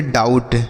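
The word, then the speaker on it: doubt: उसके बाद डी ओ यू बी टी इसे हम पढ़ेंगे डाउट।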